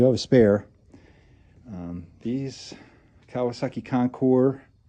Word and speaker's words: Concours: These Kawasaki Concours, has an S, but it's pronounced Concours, have an issue with the junction box, which is right down here.